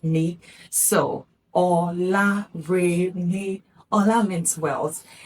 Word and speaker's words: ọlá: But when this word is written this way, it is pronounced Ola. Ola, do, re. So remember that whenever you see this mark, it is a do, not do.